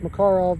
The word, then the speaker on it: Makarov: with my uh my makarov makarov however you want to pronounce it makarov is the actual pronunciation fires the 9 by